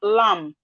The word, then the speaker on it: lamb: We have lamb, B here is silent.